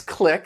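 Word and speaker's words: clique: little bit of love the next click that q-u-e it does it has that k sound but it's referring to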